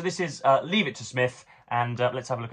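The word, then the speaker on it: Psmith: This is Leave It to Smith, or Leave It to Smith, as I suppose it's properly pronounced.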